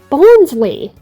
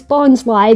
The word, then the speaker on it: Bonsly: Mime Junior and Bonsly both are Pokémon that were shown off in Lucario on the Mystery of Mew. Although, funnily enough, the anime in that movie, they mispronounced it as Bonsley, which is why a lot of people mistakenly